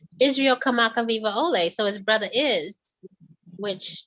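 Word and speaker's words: Kamakawiwoʻole: worldwide which is awesome how do I say that again kamaka kamaka viva viva ole ole kamaka Riva Ole yes that became uh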